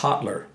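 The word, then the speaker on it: Hallur: it h a l l u r s pronounced hotler okay anyway hotler ewinson uh he sounds like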